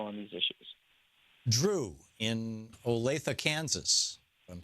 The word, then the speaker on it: Olathe: Drew in Olathe, Kansas.